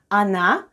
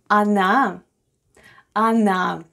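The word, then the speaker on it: она: we have o and o is unstressed and is pronounced as a then we have na and then we have i at the end anna anna which is russian for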